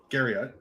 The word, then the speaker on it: Garriott: One thing I wanted to know, so Richard Garriott, is that how you say it?